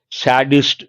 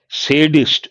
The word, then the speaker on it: sadist: Usually, a lot of people say sadist, sadism. No, it is sadist, sadism. The way you pronounce that matters a lot. Not sadist, sadist, not sadism, sadism.